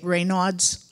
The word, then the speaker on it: Raynaud's: I've also heard that a lot of people with MS get Raynaud's. I think I'm pronouncing it correctly. Correct.